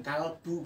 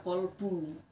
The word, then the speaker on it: kalbu: Sama seperti itu manajemen kalbu, bahasa Indonesia itu kalbu. Kalau bahasa Arab kolbu. Tapi ya jangan dipaksakan. Kalau kolbu dalam bahasa Arab itu artinya adalah hati. Tapi ketika ditarik ke bahasa Indonesia yang benar itu kalbu.